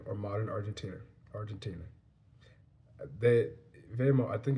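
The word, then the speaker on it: Weimar: modern Argentina Argentina they vear I think it's yeah because I know I realized I said in the last video wayar but that W in German is pronounced like a V so V because yeah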